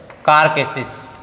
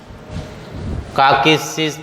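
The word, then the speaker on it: carcasses: और इसके बाद शब्द है कारकेसिस, कारकेसिस बोलते हैं, आर साइलेंट रहता है ज़्यादातर इंग्लिश में। बीच में जब आर आता है, किसी भी शब्द के बीच में या अंत में जब आर आता है तो उसको ज़्यादातर जो है वो साइलेंट रहता है।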